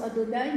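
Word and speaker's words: Adonaï: Le titre Seigneur qu'on donne à Jésus-Christ, Kurios, traduit le terme qu'on prononce Adonai, mais qui s'écrit en français YH majuscule VH.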